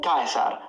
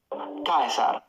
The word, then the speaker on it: Caesar: Classical Latin was always pronounced like a K. You can see now he's far from the camera. So it's Cicero, not Cicero. He's far from the camera now. Caesar, not Caesar.